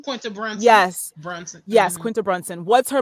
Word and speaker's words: Brunson: Quinta Brunson, right? Is that how you pronounce her last name? Quinta Brunson. Yes. Brunson.